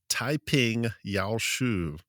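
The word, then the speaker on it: 太平要術: the Way of Peace, which in Mandarin is pronounced Taiping Yao Shu.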